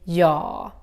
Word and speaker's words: jag: Consider that the Swedish J sounds a little bit like the English Y. So, that's why we need to say ja.